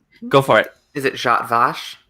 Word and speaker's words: Jat Vash: going to butcher this pronunciation because I can't pronounce even Earth-human English things. Is it Go for it. Is it Jat Vash? Jat Vash, yes.